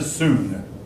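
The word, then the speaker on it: Song: replaced are they sweet the tank and the sooner as spelled in english s 0 ng but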